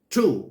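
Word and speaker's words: two: ตัว อย่าง นะ ครับ spelling T w o ออก เสียง ว่า True นี่ นะ ครับ เลข 2 เี่ นะ ครับ True อ้า มี ตัว W แต่ ทำไม เสียง ไม่ ออก เรา ไม่ อ่าน ว่า วู่ เห็น ม ครับ เรา อ่าน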